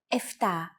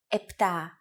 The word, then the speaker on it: επτά: Sometimes, though, especially in casual conversation, Greeks also use efta instead of epta, ochto instead of okto, and ennia instead of enea.